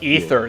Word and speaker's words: Aether: Ether it's a third they spell it Aether it's ether they say ether they it's spelled Aether it's ether just like it's demon not Damon thank you yeah